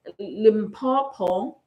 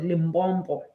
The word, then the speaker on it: Limpopo: Um, Limpopo, that's how you pronounce it. I used to call it Limbbo, a limb bomb.